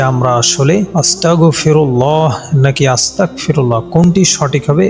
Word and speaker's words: আস্তাগফিরুল্লাহ: অস্বীকারকারী বানিয়ে দিন নাউজুবিল্লাহ আরবি উচ্চারণে গাইন শব্দটি ব্যবহার করতে হবে বাংলায় গ যোগে আস্তাগফিরুল্লাহ উচ্চারণ করতে হবে তবে এর উচ্চারণ ও